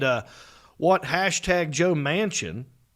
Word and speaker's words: Manchin: uh what hashtag joe manchin i love that name by the way mansion looks like he lives in a huge biltmore house like the last name i know it's spelled different but you hear the word